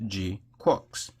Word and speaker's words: GQuuuuuuX: Was it Gqu Quacks or G Quarks or Quack or you know, but it's pronounced Gqu Quarks?